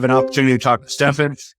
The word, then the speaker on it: Stephen: opportunity to talk to stefen it's spelled like Stephen it's pronounced Stefan everybody get it right